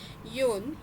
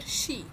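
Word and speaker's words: 四: से पहला वाला है यह फोर जो कि योन या फिर शी इस तरीके से प्रोनाउंस होगा कांजी यही रहेगी बट कुछ कॉन्टेक्स्ट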